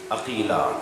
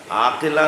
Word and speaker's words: عقیلہ: بیت کا کمال ہے۔ عقیلہ، عقیلہ، عاقلہ نہیں، عقیلہ، جس لہجے میں قمر بنی ہاشم بولا جاتا ہے نا، اسی لہجے میں